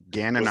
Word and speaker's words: Gananoque: Yeah, is that how it's pronounced? Gananoque, Ganaoque. Gananoque.